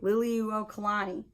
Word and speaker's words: Liliuokalani: oh i get to figure out how to pronounce this lily liliuo kalani liliuokalani there you go you got it is that